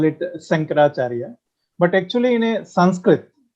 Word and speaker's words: Sankaracharya: It's not Shankaracharya, it's Sankaracharya. Am I right? It depends on the accent because in South India, especially in Andhra, they Uh-huh. call it Sankaracharya.